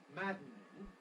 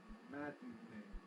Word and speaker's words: maddening: have syllabic consonant formation it could be maddening but usually we make it maddening now as I'm saying there maddening it's still three syllables maddening mading but here because the final syllable is weak we have a further possibility namely of reducing the number of syllables squashing it up from three syllables maddening into two syllables mading it was maddening